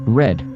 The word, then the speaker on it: read: would be understood as the past tense the pronunciation of red but not its spelling would change to red as in the color Wikipedia the